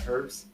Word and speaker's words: herbs: Oh, and not herbs. But over in England they use herbs. Yeah. The language that which they gave us that they pronounce the H and we don't.